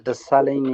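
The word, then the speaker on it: Dessalegn: Yes, my name is Desalin. My first name is spelled as D-E-S-S-A-L-E-G-N, and my last name is.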